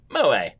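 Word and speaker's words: moe: entertainment centered around characters who possess such traits pronounced MOA and uh yeah look glasses clumsiness and dizziness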